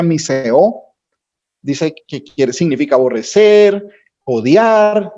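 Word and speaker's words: μισέω: Mira, aborrecer viene de una palabra griega que se pronuncia miseo, dice que significa aborrecer, odiar, detestar, sobre una base comparativa.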